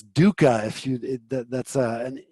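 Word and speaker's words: duhkha: It's dooka.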